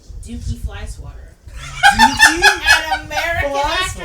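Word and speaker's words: Dukey: Okay, Duke. Dookie, like a Duke, Duke.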